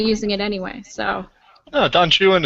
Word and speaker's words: Don Juan: it anyway so no Don Chuan is what by called him that's everything everything in the whole poem rhymes with jwan it's really awkward if